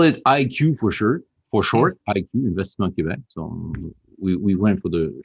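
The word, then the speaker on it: Investissement Québec: And for our English-speaking viewers, it's actually pronounced Investissement Quebec.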